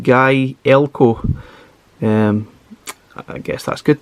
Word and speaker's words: Gaelco: got about gale co it tells you how to actually pronounce it i'm pretty sure myself and pretty much everyone else has been pronouncing that completely different like galco galco jalaco anything like that but it's actually pronounced guy elko um i guess that's